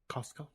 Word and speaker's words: Costco: You know, I actually appreciate that you pronounce the T in Costco. Costco?